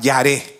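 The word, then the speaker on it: yare: en el hebreo es la palabra yar yar que se escribe y a r e yar y esa palabra significa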